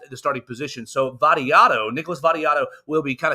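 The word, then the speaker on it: Vattiato: name earlier Nicholas Barrio that video uh vadio is is his name that's not that's not how he say his name let me rewind this in here daddy Otto yes that's what it's Nicholas variato is is how you pronounce the name and Nicholas variato who's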